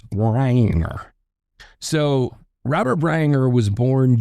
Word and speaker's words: Breininger: So it's B R E I N I N G er. It's Bryanger.